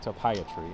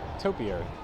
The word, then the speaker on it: topiary: thing i set up up front it's not to pay a tree it's topiary googled the definition google the pronunciation and it's uh pronounced topiary and we're gonna head over here into the